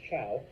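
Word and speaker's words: Zhou: come in the Chow I know it's a z but it's pronounced Chow um the Chow begin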